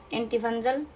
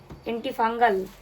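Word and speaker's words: antifungal: এসছে এই পাউডারটা দিয়েছে এন্টিফাঞ্জাল এন্টিফাঞ্জাল না ফাঙ্গাল দুটি এন্টিফাঙ্গাল উচ্চারণটা ডাস্টিং পাউডার আর হচ্ছে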